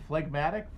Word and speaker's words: phlegmatic: go how do you there's no g and phlegmatic off